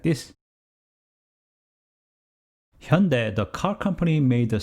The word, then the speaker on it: Hyundai: as hyu and dai so many people would read as a hyundai or hyundai but its correct pronunciation is hyundai if somebody asked me